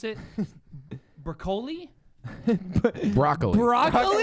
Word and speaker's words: Broccoli: So James Bond, to your note from earlier, the James Bond producer, Barbara, and I don't know how to pronounce it, Broccoli.